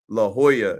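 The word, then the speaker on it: La Jolla: uh help a little advice you know it's pronounced La Hoya and I just said never heard of it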